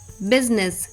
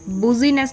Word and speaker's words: business: लिए हैं, जैसे फ्रूट, बिजनेस, BUSINESS, बुजीनेस नहीं पढ़ते हम इसको, बिजनेस पढ़ते हैं, राइट।